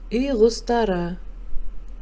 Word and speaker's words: үй құстары: раздел дурос айт произноси правильно пишется Ирек произносится Ирек Каз пишется того произносится таук пишется и кустар произносится и густора пишется прочитаем И переведем